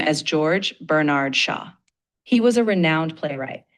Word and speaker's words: George Bernard Shaw: George Brer Shaw. You pronounce his name as George Bernard Shaw.